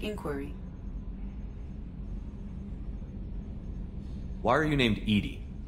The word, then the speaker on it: EDI: why are you named Edie Edie is the phonetic pronunciation of EDI that is an acronym for enhanced defense intelligence are you getting along with Joker mr.